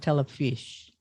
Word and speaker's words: Telefis: this out i know the spelling is a little different from the pronunciation it's a t-e-l-e-f-i-s which is pronounced telefish yeah and it's it's